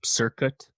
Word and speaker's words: Cirkut: Yeah, she has this working relationship with this producer, Circuit, I think is how you say it, Cirkut, who's a disciple of Dr.